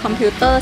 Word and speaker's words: computer: Computer, c'est le Voilà, terme English. Parce que si English, on va prononcer computer. Computer. On va appuyer sur le mot pure à la place de te.